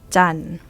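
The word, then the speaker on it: จันทร์: So, we pronounce jan. Jan. And taw and daw will be both silent.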